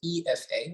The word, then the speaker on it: Ifa: And underneath that is Equestrian Fitness Academy, which Abriana mentioned, which is branded and acronym is EFA, which is the pronunciation of my name.